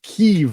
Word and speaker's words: Kyiv: I always learned it was Kiev when I was taking international politics courses back in school. We hear it all the time. Recently, you heard Joe Biden pronounce it Kyiv on a regular basis.